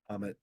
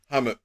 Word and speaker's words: Hamut: Hammed. Hammed. Like Baham. Yeah. kind of like Bahamut only minus B.